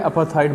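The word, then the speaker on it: apartheid: और मैंने इसका प्रोनाउंसिएशन देखा है, अपार्थाइड बोलेगा। वैसे 3 भागों में बटा हुआ था, PART अलग और HEID अलग, HEID। तो अपार्थाइड बोलेगा ये, ए अलग है।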